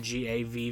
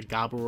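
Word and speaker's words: Gavv: how to pronounce uh like gabu for example is written g a v v so a lot of people pronounce it gav and stuff like that so when you see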